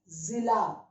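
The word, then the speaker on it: ज़िला: you pronounce as ja, but with dot you pronounce as za, za, okay, like Z in English you pronounce as za. Now this is zila, okay, zila.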